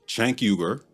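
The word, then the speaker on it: Cenk Uygur: This one's about the network itself, specifically their leaders, Chank Yuger, that's how the founder of TYT, Chanker, pronounces his name, by the way, and the self-labeled politically homeless and a consparion.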